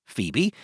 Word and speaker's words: FHIBE: It's called the Fair Human-Centric Image Benchmark, or FHIBE, pronounced Phoebe.